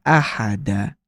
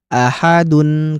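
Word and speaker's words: أحد: bacaan atau waqaf maka ahada jadilah mad thobi'i atau mad iwad gitu. Lalu misalkan ahadun ketika di akhir bacaan maka dia dibacanya bukan ahadun ketika wakaf tapi ahad.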